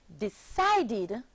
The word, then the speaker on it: decided: The verb decide, decide, becomes the past tense verb decided, decide, forming three syllables, decided.